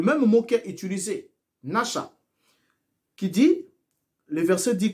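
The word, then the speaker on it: נשא: Séduire ici, pour commencer, vient du verbe hébreu ou encore du verbe hébreu nasha. Nasha qui s'écrit N-A-S-H-A.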